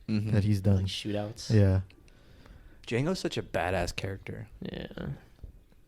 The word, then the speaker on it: Django: emphasized i was like django how do you spell that you say dj a ngo like the d is silent the django the django